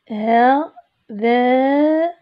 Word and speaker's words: هذان: إذا هذان، هذان أيضا تحذف الألف، تنطق ولا تكتب.